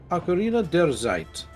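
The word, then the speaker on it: Ocarina der Zeit: in fact the actual way with which to pronounce Ocarina of Time in German and according to Serio Khan It's Ocarina derzite I'll zait your dare I mean tiger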